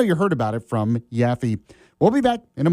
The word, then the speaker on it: Yaffee: And it's spelled Yaffee. It's not Yaffle or Waffle or Yappy or any of this other stuff that's out there.